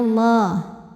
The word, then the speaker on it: Allah: Yukhadi'unallah, lam pada lafaz Allah atau lam jalalah dibunyikan secara tafkhim sebab huruf sebelumnya berbaris fathah, maka dibacanya tebal bunyinya Allah.